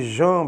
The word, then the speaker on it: Jean: na obra entrudo de João Batista debr se escreve Jean mas se lê João de João Batista de